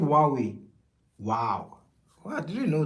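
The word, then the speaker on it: Huawei: Oh, H is silent. Okay, so it's just called Wuawei.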